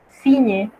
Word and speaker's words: signe: En una palabra donde usted vea G y N, usted debe pronunciar el sonido de la ñ, como en ligne, signature, signe, que literalmente significa línea, firma o firme.